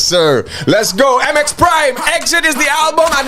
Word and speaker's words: XIT: the album exit and it's spelt x-it which is my son's initials chavez ignacio thomas serious